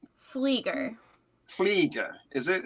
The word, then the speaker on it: Pflieger: you say your name flieger flieger is it it's got a silent p like in bath yeah you you know if